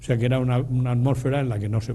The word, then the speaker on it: atmósfera: Por cierto que se dice atmósfera, pero no se dice heterosfera y ionosfera, es una cosa interesante lo de los acentos en castellano o español.